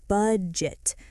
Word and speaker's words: budget: A lot of learners say bougette or bette, but the correct pronunciation is budget. Say it with me. Budget. Good. Short U sound at the start.